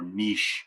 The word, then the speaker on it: niche: in the niche category so for niche apparently you could pronounce that word either way i had no idea pronouncing a niche for like my entire life too um so anyway